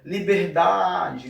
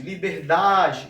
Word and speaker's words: liberdade: um pouco mais, ó, liberdade, liberdade, esse dá fica um pouco mais esticado, então a esse dá aqui eu vou dizer que é a sílaba tônica, a sílaba mais forte, tá?